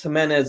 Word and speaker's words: Jimenez: mortgage accelerated podcast and today we have Jimenez on how you doing I'm good thanks for pronouncing my last name right yeah yeah but